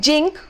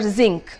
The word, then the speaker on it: zinc: Then you have people saying jink for zinc.